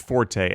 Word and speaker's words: forte: Yes, apparently in Italian it's pronounced forte, and so maybe that's why we're supposed to say forte.